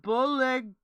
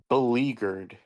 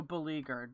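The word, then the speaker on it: beleaguered: It's pronounced bleer. Bagger. Hello. Hello. Hey. I was just coming to say belleaguered. Oh, belleaguered.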